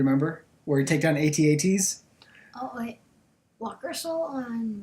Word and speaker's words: AT-AT: Yeah, AT-AT, and I'm so glad you call it AT-AT and not AT-AT. I know AT-AT is the correct pronunciation, but I call them AT-ATs.